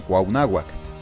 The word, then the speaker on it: Cuauhnáhuac: Cuernavaca, capital del estado de Morelos, o mejor dicho, Cuauhnáhuac, o junto a los árboles, pero que a los españoles se les hizo más fácil pronunciarlo como si una vaca estuviera implicada.